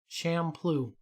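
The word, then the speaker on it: Champloo: is it shampoo shampoo shamploo it's spelled like champ and then lou okay champion poo poo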